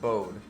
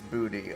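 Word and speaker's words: Bode: that's the bold museum it's b-o-d-e i think it's pronounced bowed and and or i don't think it's booty i think it's bowed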